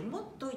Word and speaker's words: 元結: もとゆいと書いてもっといと読みますので、